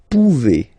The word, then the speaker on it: pouvez: Then vous pouvez. Okay, classic ending as well for the vous form. A Z like that. Okay, remember you pronounce it e.